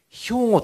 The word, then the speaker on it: 兵庫: 弱点はですね兵庫という地面がですねヨーロッパ人にとってはとても発音しづらいらしいんですね大体ヒゴと言ってみたりですね背後と言ってみたりウゴと言ってみたりですね難ですけど仙台なんか発音